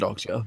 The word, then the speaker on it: Okja: Look at Okja. Or Okja, whatever you pronounce it. You definitely pronounce it Okja, yeah.